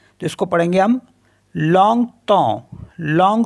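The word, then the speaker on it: longtemps: पर ईम आ रहा है इसको पढ़ेंगे हम लंग तो लंग तो लंग तो मीस फॉर अ लॉन्ग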